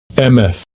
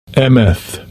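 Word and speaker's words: אֱמֶת: Ini cara baca bahasa Ibraninya nih. Hemat. Amen. Strong's H571. Emeth. Emeth. Emet itu roh kebenaran, ya.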